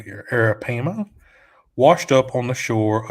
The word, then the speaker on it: arapaima: out there a 10-foot arapaima let me just pronounce this correctly here arapaima washed up on the shore of cape corals